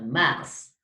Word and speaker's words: Mars: Vous prononcez toutes les lettres. Mars.